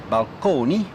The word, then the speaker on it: balcony: lexicon to describe them so balcony still pronounced at that time in the italian manor balcony as well as fresco